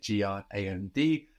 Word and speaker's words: grand: Good, now we don't hear the final D. No, we get G-R-A-N-D, and that D is silent.